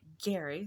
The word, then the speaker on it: Gerry: Now, it should be noted that technically everyone says Jerry Mandering, but his name was actually pronounced Gary.